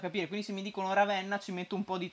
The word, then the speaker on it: Ravenna: posto lo farebbe anche io dico ravenna con la è aperta voi come dite monza